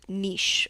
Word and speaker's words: niche: to detail of this sculptural Niche or Niche whatever you want to pronounce it it was commissioned by